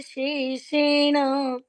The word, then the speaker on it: शेषेण: दीदी मुझे ये पूछना था, जो फर्स्ट लाइन है श्रुत्वा धर्मान शेषेणे है या शेषेना? दीदी उससे लास्ट वाला वर्ड उच्चारण बता दीजिए। शेषेण। पढ़ा? हाँ, ण पूर्ण जी, है, जी। कोई भी मात्रा के बिना, लेकिन पूर्ण।